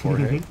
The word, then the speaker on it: Jorge: Isn't it crazy that George in like Spanish is pronounced Jorge? Like what? Jorge, your name is George.